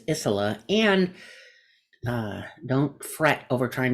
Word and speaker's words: Isola: It's Isola, but if you have a last name that kind of, when it starts with a vowel, that's where people get tripped up. Starts with a vowel, ends with a vowel, has a vowel in the middle. So it's how I pronounce it is Isola, and don't fret over